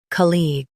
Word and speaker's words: colleague: Stress col and keep eags light.